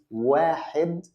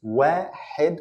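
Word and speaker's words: واحد: first letter is one is where head where head ok it's where head with hot ok and there is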